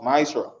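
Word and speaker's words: מעשר: Means tenth in the Hebrew and is pronounced Maisra.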